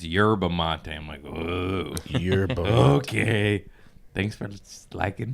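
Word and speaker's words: yerba mate: you say it yeah I was calling it her Bamonte day but all my fans are like it's yerba Monti your bouquet thanks for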